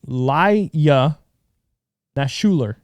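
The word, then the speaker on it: Ilya Naishuller: Laya Nashuler. Perfect. That's exactly how it's pronounced.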